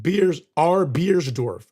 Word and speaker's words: Beersdorf: And he says, FYI, it's pronounced Beersdorf. Okay, so R. Beersdorf. Okay, that makes it easier. R. Beersdorf, not Beers.